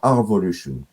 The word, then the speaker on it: R_Volution: But it's pronounced yeah, Revolution and not Arvolution. it's Arvolution, yes, Arvolution. Okay. because there is The the underscore, so okay.